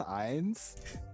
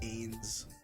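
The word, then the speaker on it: Ainz: like bro is this ions and the name ions just happened to be in his last name and i was just like i think it's pronounced different though it's like ains it's like ainsworth but it was just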